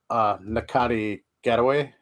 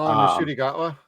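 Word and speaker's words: Ncuti Gatwa: Yeah, he reminds me of Nakati Getaway. I think that's how you pronounce his name. It's on Sex Education, the new Doctor Who. Oh, Nashudi Gatwa?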